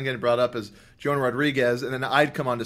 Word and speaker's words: Rodriguez: My real last name is Rodriguez. I didn't know that. Yeah. So it looks like Portuguese. Rodriguez. Yeah, it's pretty much spelled exactly like Rodriguez.